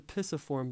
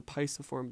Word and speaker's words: pisiform: out of the eight this bone is called the pisiform bone or sometimes pronounced the paisa form bone awesome so that those